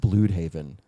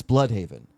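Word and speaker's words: Blüdhaven: The way he pronounced Blude Haven, it's Blood Haven.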